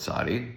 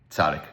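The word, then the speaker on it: צדי: Moreover, parallel letters in Arabic, Syriak, and Ethiopic, all closely related, the languages, have no K sound at the end. Despite this, one still hears the letter referred to quite often as Sadic.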